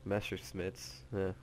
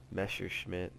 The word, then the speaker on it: Messerschmitt: going up against bf109s or master smiths messerschmitt there we go i said it wrong so what i could